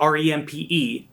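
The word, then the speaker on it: Rempe: distilleries in bardstown and john ramp i think that's how you say it r-e-m-p-e john remp is the master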